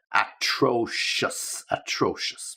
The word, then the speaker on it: atrocious: Terrible, easy, but atrocious, okay? Just to make sure you get the right stress, atrocious.